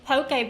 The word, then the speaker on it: poke: as I always assumed Poke Balls were Asian but you're learning something new every day poke I always said Pokey if I've been saying it wrong potato state but when